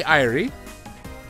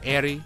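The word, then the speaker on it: Airi: But we also have a Irie and a Haruka. So yeah. I think that's how you pronounce her name, Irie. It's A-I-R-I. I believe it's Irie. Or Airy. I don't know.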